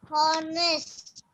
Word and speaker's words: honest: Honest. Yes, honest. How do you pronounce here? Even though the word starts with H, H is silent here.